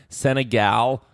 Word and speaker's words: Senegal: pronounced differently. It's Senegal. Seen a gal?